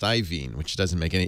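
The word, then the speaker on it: Iovine: yeah it's hard ien I'm told now it's pronounced ien which doesn't make any it's spelled IO i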